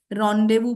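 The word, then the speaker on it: rendezvous: एकदम रोंडे वू हां तो रावू के स्पेलिंग जैसे बोल रही हू वैसे नहीं होती है it spelling is आर ई एन डी ई जी वी ओ यू एस रंड देवू बोलते हैं इसको ठीक है और इसका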